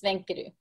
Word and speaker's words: Svenke: gonna have to tell everybody your last name pronounce it because you know I was struggling with it my last name is sanku and obviously that's not a name that we